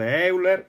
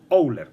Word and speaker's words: Euler: that is easy to build and is called Euler's disk or Owner's disk, notice that owler is